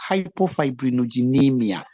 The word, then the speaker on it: hypofibrinogenemia: It's hypofibrinogenemia. When you break the word, you can easily pronounce it with confidence. That is hypo, below, fibrinogen. Then amia, blood, meaning low level of fibrinogen in the blood.